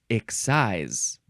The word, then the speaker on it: excise: excisable with an excise the third form is pronounced EX size this is also a transitive verb um from